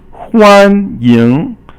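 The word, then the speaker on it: 欢迎: So huan is first tone, ying is second tone.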